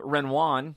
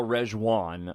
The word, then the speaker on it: Rejwan: There's a Michelle Renoir. Did I say her name right? Let me double-check that. Yes, it was Michelle Rejwan.